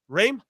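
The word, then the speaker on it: Reims: r-e-i-m-s go ahead Charlie how do I say it dream oh it's a stream it's like Tim it's Tim Reams a dream French Club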